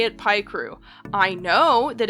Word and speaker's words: Picrew: Last thing before I dive into this video proper, yes, I say it, pie crew. I know that it would make more sense if it was pic crew because pic like picture and I know that